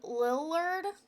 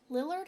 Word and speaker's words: Lillard: is Matthew Li Li Lillard Lillard I think is how you pronounced his last name oh my gosh I